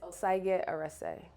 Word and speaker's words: Osagie-Erese: It's Osagie-Erese.